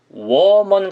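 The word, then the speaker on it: woman: 일단 여자 라는 발음은 5와 맨 원맨 이런식으로 발음을 하셔야 됩니다 음원이 아니라 워먼 같은 느낌이에요 다시 한번 우와 맨 원맨 그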